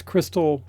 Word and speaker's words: Christle: And it's Crystal, but it's spelled Christle if you want to find it.